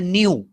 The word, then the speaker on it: nu: And this is another symbol that is called as a nu. How to pronounce it?